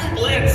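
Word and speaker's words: Blitzø: Okay, Mr. Blitz, the O is silent.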